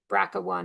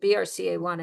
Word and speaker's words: BRCA1: Check 2 talks to p-53, bracka 1 and bracka 2 or I usually pronounce it BRCA1 and BRCA2 and others.